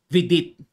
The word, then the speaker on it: Vidit: Sa board kasi tawag kay Vidit, Vijit eh. G or J ang bigkas, Vijit. Sa atin, Vidit. Ayan, letter D eh, Vidit.